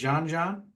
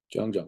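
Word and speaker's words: Jeong: Like Jean, Jean, I can never say his name right. Jung, yeah.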